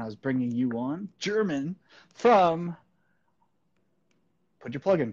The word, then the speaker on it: German: It's pronounced German, but that's okay. A lot of people call me German.